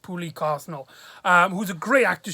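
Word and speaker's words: Pooky Quesnel: uh pulley quesnez cosnell i believe her name is pronounced poorly carsonal um who's a great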